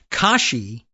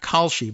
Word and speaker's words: Kashi: Uh if the AI answer from Google is to be believed, uh Kashi, not Khi, but Kashi refers primarily to is this right?